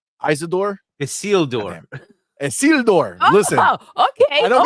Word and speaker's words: Isildur: A whole big drama about our lack of knowledge of Isidore, right? Isidore? Isildur. Isildur. Listen. Okay. I don't got the pronunciation down, but now I know the name.